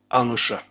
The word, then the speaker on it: Al-Nusra: Al-Nusra. Okay. Thank you, because I couldn't pronounce it.